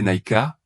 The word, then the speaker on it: Niké: Le voyage du voyager doré le conduit à la déesse Niké, prononcée Naika, représentée comme une statue sans tête entourée d'acrobates.